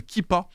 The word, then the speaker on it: Keepa: ajoutez une extension dans Google Chrome qui s'appelle kippa ça s'écrit keepa et bah dès que vous l'avez